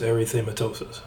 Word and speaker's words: erythematosus: Systemic lupus erythematosus. It kind of sounds like halitosis, but it's not.